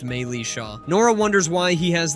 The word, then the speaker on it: Militia: It's pronounced Maylisha.